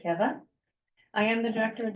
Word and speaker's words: Keve: You would pronounce it Keve as an English speaker, but my husband is Hungarian, so you pronounce it Keve.